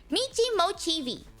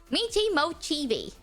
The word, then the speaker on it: Michi Mochievee: way is just I am wondering how you pronounce mimo how to Mei mochii that's how you say it it's Mii moii yes the thing is Right Fri for she